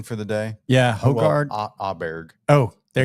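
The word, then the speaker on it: Åberg: Aberg. Oh, there. It's an Yeah, it's A, but you Oberg. pronounce Yeah, it like O.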